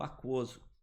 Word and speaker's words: aquoso: Olha lá, queijo, guerra e o aquoso. Né? Toma cuidado com o aquoso, porque esse U ele é pronunciado bem fraquinho.